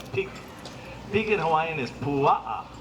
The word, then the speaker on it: pua'a: Pig in Hawaiian is pua'a, P-U-A-A, pua'a.